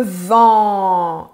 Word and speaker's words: vent: C'est le vent, l'air en mouvement. Très bien. Le vent, l'air en mouvement. Donc, c'est très vertical. Il faut être en colère pour prononcer Le vent.